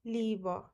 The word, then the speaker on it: Liebe: So whenever I and E comes after I, it becomes E.